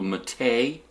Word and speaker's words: mate: this desktop environment after a South American drink that's called a matei so the e is kind of they ought to put a little little symbol over it or something to emphasize how it's pronounced when you boot into